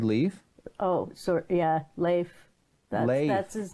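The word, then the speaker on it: Leif: that le i FF so it looks like leaf if you look quickly yes lathe what kind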